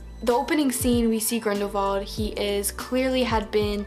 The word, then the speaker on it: Grindelwald: you say his name it spelled Grindelwald but i think it's pronounced Grendel vault I hope thought his name was guarendi vault so who knows the